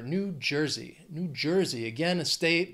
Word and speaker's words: New Jersey: we have New Jersey three syllables stress is on well the first syllable of the second word that J New Jersey New Jersey again a